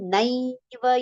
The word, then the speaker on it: नैव: Na has got two matras on it, right? So two matras make sound as I. So that nai should be heard clearly and it should be a long pronounced letter.